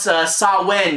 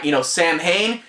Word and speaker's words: Samhain: It's a cool crossover, and plus they actually pronounce Samhain, or Sam Hain, supposed to be pronounced Samhain.